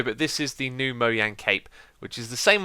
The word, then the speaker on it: Mojang: And yes, I said MOJANG because that is the correct way to pronounce the Swedish company's name.